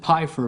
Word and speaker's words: Pfeiffer: Is the P silent, or are you pronouncing the P on Pfeiffer? I pronounce it Pfeiffer, but I'll answer to just about anything.